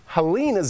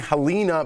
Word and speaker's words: Helena: to her final work I keep saying halina because I'm not sure how to pronounce it it is Helena okay thank you yes